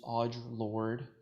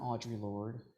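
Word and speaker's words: Audre Lorde: activist her name is odd Lord it's not Audrey Lord even though it's spelled that way it's Audrey look odd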